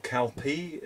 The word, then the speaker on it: Calpe: We are going to Calpe, or Calpe is how people say it, I think, but I think you spell it as C-A-L-P-E.